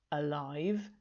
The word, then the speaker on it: alive: alive now so remember the opposite of dead is alive but it's pronounced in a very similar way to the adjective live all you have to do is put the uh in front alive okay so i'm hoping